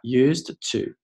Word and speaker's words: used to: 好，我们来看一下 shrimp 这道题。首先呢，大家把视频暂停一下，用大概30秒到40秒的时间，把整段话先通读一遍。Alright，我们来看一下第一部分。Shrimp farmers，注意这个 p，不要读成了 shrimp farmers，这个 p 呢非常的弱，甚至呢只做出口型，没有这个音。Shrimp farmers used to，这个 d 非常的快，used to，读快的时候呢，甚至这个 d 你听不到，used to 一个小小的拖音。我之前讲过，ed 的形式呢